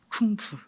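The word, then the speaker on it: 功夫: 중국어로 공부를 뭐라고 읽는지 아십니까? 쿵푸. 네, 중국어로 공부를 쿵푸라고 읽습니다.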